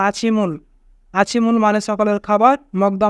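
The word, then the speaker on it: 아침을: এখানে বাচ্চিমের পরে ইয়ং থাকার কারণে বাচ্চিমটি ইয়ংয়ের স্থানে যাবে, তাই উচ্চারণ হবে আছিমুল।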